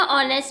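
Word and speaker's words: honest: वह था ऑनेस्ट students यहां पे एच साइलेंट रहेगा ऑनेस्ट मींस ईमानदार जनरस एंड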